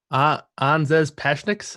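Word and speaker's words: Anžejs Pasečņiks: Pashanek. You say the name, Kyle. How do you say it? Anzes Pashniks.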